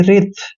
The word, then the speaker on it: wreath: दोस्तों जब भी आर से पहले डब्ल्यू आता है तो वहां पर डब्ल्यू हमेशा साइलेंट रहता है, इसलिए डब्ल्यू का उच्चारण हमने नहीं करना है, आर को हम रे पढ़ेंगे और यहाँ पे ई ए का उच्चारण ई की मात्रा करेंगे और TH को थ पढ़ना है, यानी कि रिथ।